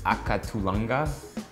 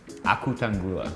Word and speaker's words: Akutangula: It's akatulanga. Akutangula, that's the right way to say it.